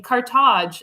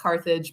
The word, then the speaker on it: Carthage: I mean, Carthage, as the Tunisians call it, in English it's pronounced Carthage, but I usually go with the Tunisian pronunciation, Carthage.